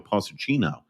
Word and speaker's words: Pochettino: will see the first games managed by Mauricio Pochettino. That's true. Wow, I have to figure out how to pronounce I don't know.